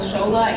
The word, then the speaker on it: Shola: First thing I want to say, though, is although my name is spelled Shola, it is pronounced Shola.